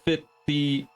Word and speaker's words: Phthiotis: It's spelled Phthiotis. So Phthiotis.